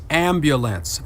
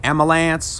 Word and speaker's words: ambulance: see um let's see the word ambulance is pronounced ambulance many of us say amulance or amals but the the word is ambulance say it with me